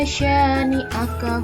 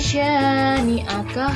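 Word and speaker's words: شانئك: Misalnya, ketika membaca inna syani'aka huwal abtar, lafal sya dibaca panjang. Sekali lagi ya, inna syani'aka huwal abtar.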